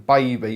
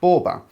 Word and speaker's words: Boaby: of assumed it was still meant to be pronounced as in baby but i' done a bit of researching last night and it is actually pronounced bber uh now when I done a bit of